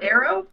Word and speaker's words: Aero: pronounce this the arrow Arrow yeah Arrow just like Aerosmith it's a 100 sustainably sourced cocoa it's 42 grams of milk chocolate 120 calories so here's here's the big thing with arrow bars it's you you